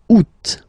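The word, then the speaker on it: août: Second one you pronounce it oot.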